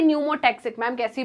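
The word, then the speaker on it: pneumotaxic: है ma'am P से न्यूमो टक्सिकी बात कर रहे हैं न्यूमो टक्सिकी पी साइलेंट होता है राइट तो पोनस जो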